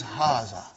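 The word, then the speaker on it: هذا: it brother ha see it is pronounced like ha huh but this alif is not written huh it is explained in the key also so it is haah okay haah means this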